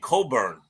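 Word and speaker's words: Cockburn: And they have a big guy in the middle named Coburn. Don't mispronounce it because you can get in trouble.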